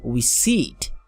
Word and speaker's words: receipt: this word too and I say receip receip be careful because I don't say receip because the letter P is not pronounced you have a course